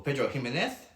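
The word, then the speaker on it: Pedro Ximénez: So yeah, basically it comes from Jerez in Spain, or Pedro Ximenez is the correct pronunciation with the accent.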